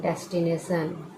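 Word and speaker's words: destination: होया क्या हो जागा टी को ट नहीं लिख य श हो गया और ओ एन ओ साइलेंट हो गयान के लिए ए डेस्टिनेशन क्या बना ने डेस्टिनेशन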